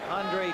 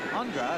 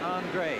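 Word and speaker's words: Aundra: We were told that he's changed the pronunciation of his name, spelled A-U-N-D-R-A, from Andra, as he was known in Green Bay, to Andre, as he's known here in New Orleans.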